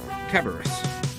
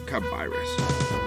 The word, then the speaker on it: Cabirus: From the looks of things, you must be Sir Arthur Cabaris. Indeed, and I must correct you, as the proper pronunciation is kabirus, but fear not.